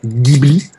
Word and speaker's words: Ghibli: pour sa bible y c'est un mot italien ça se prononce avec un g dur on dit bien ghibli même si certains japonais